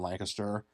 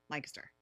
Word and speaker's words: Lancaster: Lancaster. Lancaster. Yes. Not Lancaster. People get very angry if you say that incorrectly.